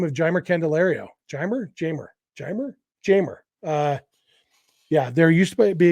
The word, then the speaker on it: Jeimer: Jamer. Yeah, there used to be a guy named Reimer something, and Jamer is spelled the same way, but with the J instead of an R, but it's Jamer.